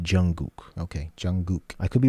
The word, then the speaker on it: Jungkook: I think it's pronounced Jungkook.